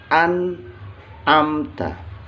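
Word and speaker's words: أنعمت: Jadi dibacanya an'amta. Annya jelas, bacaannya annya jelas, an'amta.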